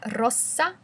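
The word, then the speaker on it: rossa: the difference in pronunciation red is a double s so it's a soft s Mala Rosa whereas um pink is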